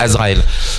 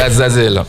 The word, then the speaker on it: Azazel: Tous les noms qui se terminent par elle généralement Azazel en fait, c'est pas Azraël.